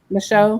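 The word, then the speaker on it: Micheaux: How do you pronounce that? Michoud? Show. Michaud.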